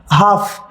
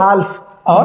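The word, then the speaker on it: half: काल्लेल नहीं पढ़ेंगे ना एल साइलेंट हो गया तो क्या पढ़ोगे आप काफ काफ आगे हाफ हम बि हाफ हम और अगर जो आपको ये नहीं पता होता कि एल यहां पे साइलेंट है तो आप क्या पढ़ते काफ और हाल्फ हाल्फ राइट तो ये आपके लिए टॉप सीक्रेट है कि जब भी हम ए एफ के बीच में एल पाते हैं तो एल को प्रोनाउंस नहीं करेंगे एल हमेशा वहां पे साइलेंट होगा जैसे कुछ एग्जांपल्स आपके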